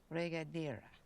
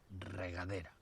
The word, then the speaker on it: regadera: Regadera. Regadera. Have to roll your R's.